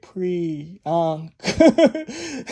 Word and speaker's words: Priyanka: the videos, the comment sections, you see people pronouncing her name out by spelling it. It's Jay, this is how you say it, Priyanka.